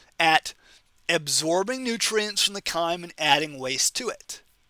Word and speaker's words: chyme: ever hear you say chime it's called chyme okay almost every time we have a ch anatomy class we pronounce it with a hard k k sound like 99 percent of